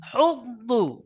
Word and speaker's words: يحض: ولا ولا يحض على طعام المسكين দেখেন এখানে এখানে আছে হুদ্দু, হুদ্দু, উচ্চারণটা শুদ্ধ হবে হুদ্দু।